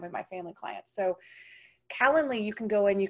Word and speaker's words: Calendly: I can't say it right, so I'm going to spell it for you guys. C-A-L-E-N-D-L-Y.